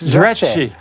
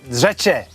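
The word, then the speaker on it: Zreče: So Branko has given us the pronunciation. Yeah. How can you get this wrong, Chris? It's Zrece. Zrece, Slovenia. Zrece.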